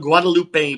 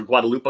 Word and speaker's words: Guadalupe: The Our Lady of Guadalupe pendant or Guadalupa, I give you both pronunciations.